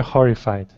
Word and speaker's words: horrified: Later horrified. Yeah, that was better. So you want to really pronounce your H, later horrified, later whore. So you have to get right from this R to the H sound.